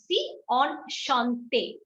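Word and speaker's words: enchanté: shantae okay on shanti pronunciation is pretty easy why because en we have already learned we pronounce it as on see h we've learned we pronounce it as shi on shantae and e we know how to pronounce it at the end on sean thing okay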